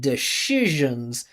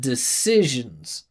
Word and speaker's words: decision: s but this time when it should be an s sound she adds a a shh sound right she said decisions instead of decisions interesting sound interesting I